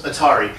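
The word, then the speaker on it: Aari: Black chick, cute black chick, her name was Atari, spelled with an H. It wasn't like Atari the video game, but it was pronounced like Atari.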